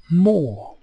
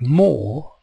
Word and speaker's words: more: but I want more note the silent E on more unlike the E on the end of gave on the word more the E is silent and does nothing but on the word gave the E changes the sound of the a to a but I don't say mo right more w we were happy